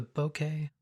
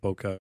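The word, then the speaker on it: ボケ: That is as close as I can tell to how it's supposed to be pronounced. I know a lot of people call it bokeh. So the term bouquet is coming from the Japanese word for blur.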